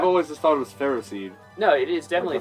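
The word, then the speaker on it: Ferroseed: people pronounce that like feros like ferocity like kind of along that line but yeah I've always just thought it was Ferro seed it is definitely fer seed cuz it's iron and grass oh I love cherub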